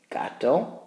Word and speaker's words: gato: H in English so we have the word gato gato hard heneral the word for